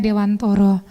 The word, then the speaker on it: Dewantara: Iya Ki Hajar Dewantoro Iya nulisnya Dewantara membacanya Dewantoro bener ya kelahiran Jogja